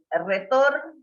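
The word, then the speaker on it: retors: Pero resulta que buscando en el diccionario en francés, retor suena exactamente igual que retor, que es retor terminado en S, porque en el francés la S no se lee, no se dice.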